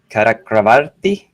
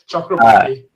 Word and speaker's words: Chakravarti: presenting my colleague, Karakravarti. Is that how you pronounce it? I think I never pronounced it. Almost there. Chakravarti. Oh, sounds almost like chocolate.